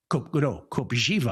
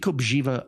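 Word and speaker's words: Kopřiva: Copiva I believe that's pronounced. These are fantastic. Okay. No, it's it's beat copiva. I believe you pronounce it with a z sound. Okay. Vit Kobjiva against Ignasio Booze.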